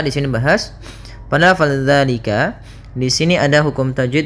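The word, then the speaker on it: ذٰلِكَ: Hati-hati dalam pelafalan zal, jangan dibaca dengan zai, jangan zalika. Dia bukan huruf za. Bukan dengan bacaan zai.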